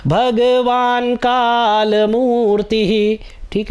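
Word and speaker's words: भगवान्: विश्वेश्वर भगवान काल मूर्ति अब देखि न य पर हलंत है तो भगवान का न में अ का साउंड नहीं आएगा भगवान काल मूर्ति ठीक है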